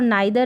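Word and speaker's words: neither: अब यहाँ पर जो आइदर है और नाइदर है, इसको ईदर नीदर, यानी आइदर को ईदर और नाइदर को नीदर करके भी प्रोनाउंस किया जाता है।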